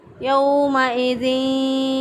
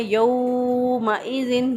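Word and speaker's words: يومئذ: बाज़ लोग इसको पढ़ते हैं यौमइज़िन, यौ को लंबा कर देते हैं, तो ये लंबा नहीं करेंगे। ऐसा करना गलत होगा क्योंकि हरूफ़-ए-लीन है।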